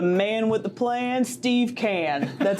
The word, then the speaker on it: Kahn: summer is the man with the plan, Steve Kahn. That's how you pronounce that, right? That is. Or Kahn some days too.